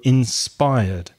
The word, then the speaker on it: inspired: a regular verb and with regular verbs if it finishes with the R sound you don't pronounce the IDI just the D so inspired inspired I was inspired by